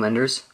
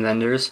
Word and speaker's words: Wenders: American friend and that's from wind Wenders or VI venders I think that's how the German pronounce it it's by number 793